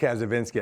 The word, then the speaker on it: Kacyvenski: I get um so it's it's pronounced a vinsky I always have an